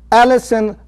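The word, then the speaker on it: allicin: be complete those are Alison phytochemical a plant chemical Alison is not the girl next door it's spelled a little bit differently okay a l l i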